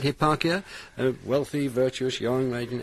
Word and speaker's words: Hipparchia: he was wooed by a virtuous maiden called Hipparchia. Is that how I pronounce it? That's right, Hipparchia, a wealthy, virtuous, young maiden.